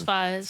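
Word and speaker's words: Faiyaz: Yeah, that's Fayez. Fayez, I said it right the first time.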